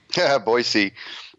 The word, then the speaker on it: Boise: the independent Manifesto publishing house he lives in baz Idaho did I pronounce that correct boisey okay yeah yeah that was the French boisey